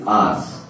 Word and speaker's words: hours: మీరు అవర్స్ అంటారు కానీ అది అవర్స్ కాదు, అది ఆర్స్ ఆర్ యుఆర్ఎస్ ఆర్స్. The cyclone is likely to be happen by 24 hours అన్నారు కానీ అవర్స్ అనకూడదు.